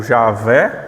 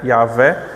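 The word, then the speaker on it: Yahweh: Então, Yahvé ou Jahé, se você for ler algum livro de teologia, normalmente vai se encontrar Jah, né? Mas é Yahvé.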